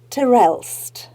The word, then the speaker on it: Terelst: to introduce you to the wonderful author Cynthia Terrell have I pronounced your surname correctly you got it right